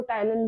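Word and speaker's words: ptyalin: और नाम है जिसको पटाइन कहा जाएगा पी साइलेंट होता है हम इसको टाइलन भी प्रोनाउंस करते हैं इसका फंक्शन है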